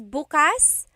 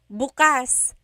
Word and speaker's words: bukas: If you say bukas, bukas, the emphasis is on the second syllable. That means open. If you say bukas, bukas, emphasis is on the first syllable, that means tomorrow.